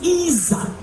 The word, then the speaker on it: ezer: The Hebrew word for help is Isa.